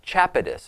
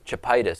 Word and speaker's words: chapatis: And his diet is made up of fresh milk, clarified butter, vegetables, and chapatis, I think is how it's pronounced. I don't think it's chapitis because that would sound almost like a disease.